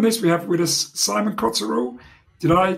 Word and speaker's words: Simon Coterill: a partner on this we have with us simon cottero did i pronounce it correctly yes thank you yes who